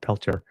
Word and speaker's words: Peltier: oh about time Leonard peler by the way peler is how he pronounces it yes because American sorry